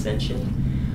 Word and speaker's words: sentient: for it it's called sentient s n t i e NT can also be pronounced sensient um and that's having